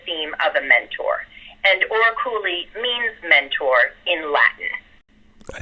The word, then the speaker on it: Oraculi: Did I pronounce that correctly? Oraculi.